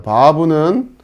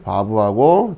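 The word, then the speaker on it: וו: 자, 이거는 이제 우리나라 발음으로 비읍 발음 정도 된다 생각하시면 돼요. 물론 아까 우리가 배웠던 베트하고 이 바브 같은 경우는 비읍 발음, V 발음 이렇게 구별이 되지만 자, 우리가 이제 히브리어를 처음 공부하는 입장에서는 그냥 편안하게 비읍 발음으로 해도 크게 무리가 없거든요. 여러분 그냥 비읍 발음 정도 된다 생각하시고 바브 이렇게 하시면 되고요.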